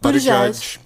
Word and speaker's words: Buttigieg: Well, Ed Schrock is like obviously a negative representation, but now you're seeing there's Corey Johnson, there's Pete Buttigieg.